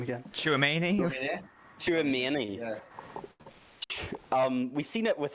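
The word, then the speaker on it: Tchouaméni: how the fuck do you pronounce his name again? Chouameni? Chouameni.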